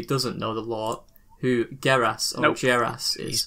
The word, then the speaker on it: Geras: Is it Geras or Geras? It'll be Geras. I think it's Geras. It's Geras. Right, we'll go with Geras.